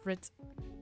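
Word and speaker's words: richt: Something I say a lot is rigged, and it's the Scots word for right. Oh, but you pronounce it writ.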